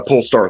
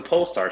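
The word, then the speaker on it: Polestar: evolution well it's it's actually about the uh pull star three oh it's the pole star sorry not Lucid pole star three sorry about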